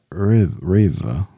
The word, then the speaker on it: Riva: Michael Riva, How do you spell it? R-I-V-A, Riva.